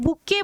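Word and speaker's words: bouquet: बुके बना रहे हैं। ये बुके की स्पेलिंग देख लेना। बहुत सारे स्टूडेंट्स गलत करते हैं। टी साइलेंट रहेगा।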